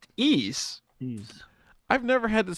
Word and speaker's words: Ys: This is Ease, the Vanished Omen.